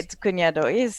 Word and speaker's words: cuñado: Well, that's why you put that accent over there, because I know I have to pronounce it a little differently, because why else? You just say nya, nya. Yeah. Yeah. Like Yen, in yen. canyon or jalapeno.